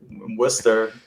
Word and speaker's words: Worcester: Yeah, for those who don't know, we are in Massachusetts, so it is Worcester, Massachusetts. It's the town that doesn't look like it's pronounced Worcester.